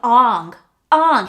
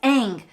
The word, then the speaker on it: Aang: butchered the goddamn movie he kept calling him ong his name was aang first off and just